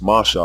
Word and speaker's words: Moshe: confusion as it stands his name must be pronounced Masha unless one is reading the pointed mastic text or following that tradition of pronunciation but what you are